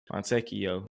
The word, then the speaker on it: Fontecchio: Fontecchio.